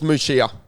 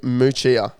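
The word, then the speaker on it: Muchea: Now, Google does say Moochia. However, Google will just kind of sound out the letters as they are.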